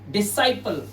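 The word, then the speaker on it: disciple: और यहां पे देखिए डिसाइपल। क्या पढ़ेंगे? डिसाइपल। और यहां पर हमारा इसका मतलब होता है शिष्य। और ये एस के बाद सी है सभी वर्ड्स में। तो यहां पर हमारा सी लेटर जो है वो फाइनली साइलेंट है।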